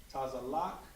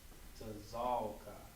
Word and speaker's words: Tazalka: I told you Tazalak, and that is wrong. It is pronounced Tazalka.